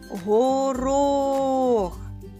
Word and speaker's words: горох: на другий звук о слово горох горох знову наголос на звук о наступне слово газета давайте